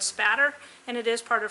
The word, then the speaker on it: spatter: thing with the pronunciation it is not splatter there's no L in there it is called blood spatter and it is part